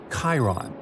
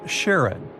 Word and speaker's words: Charon: Nix, Kerberos, Hydra, and the most mysterious one, Chiron, also pronounced Charon. So you can pronounce it however you like. I'm going to go with Charon.